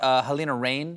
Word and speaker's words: Halina Reijn: Am I pronouncing this correctly? Halina Reijn.